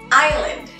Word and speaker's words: island: Y por último, island. Island. La S no tiene sonido.